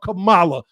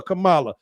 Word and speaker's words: Kamala: because like I said everybody called her Camala well black people called her Kamala not one person that